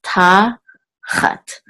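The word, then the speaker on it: תחת: and this is a this is tah Hut and accent is on the first level tah tah Hut top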